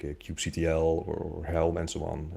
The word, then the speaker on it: kubectl: Yeah, it was like kubectl or cuddle even, or Quebec Tulle.